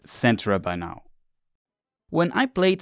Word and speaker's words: Cetra: In the Japanese version, it seems to be Settora. And now I know it better, but for this re-release of this video, I did not re-record the script again. Sorry. So, in the video, I always say Katra, but I know it's pronounced Centra by now.